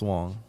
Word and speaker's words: Wang: Spelled Wang, pronounced Wong.